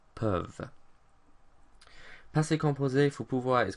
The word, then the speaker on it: peuvent: pouvons, pouvez, but then when we get to il, elle, we have EU again, and so we have this E in il, elle, peuvent.